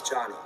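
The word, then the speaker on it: Jony: mispronouncing names for example my name is johnny spelled j-o-n-y and it's normal for someone to pronounce my name like joanie but if i were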